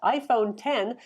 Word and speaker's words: iPhone X: 8 iPhone 8 plus iPhone 10 that's the iPhone with the X it's pronounced 10 for those who of